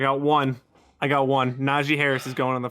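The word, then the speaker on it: Najee: i don't get it it's na g naji harris like that's it like it's simple and i was like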